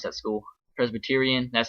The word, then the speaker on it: Presbyterian: presta bursting i don't even know how to pronounce that school presbyterian that's how you pronounce it sorry this game's